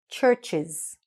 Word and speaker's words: Church's: Church's, okay?